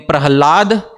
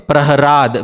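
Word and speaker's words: Prahlada: Therefore, sometimes in the Bhagwatam you find the name Prahalad and sometimes you find the name Praharad with the R.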